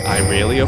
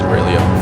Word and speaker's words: Irelia: I believe it's Aurelia though. Aurelia? Yeah. All right. I like to say Irelia for some reason, but I think the correct pronunciation is Aurelia.